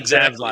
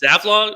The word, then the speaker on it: Zaslav: Zaslav. So is it Zavlog? I forgot how to Zavlov. Yeah, pronounce it. Zaslav.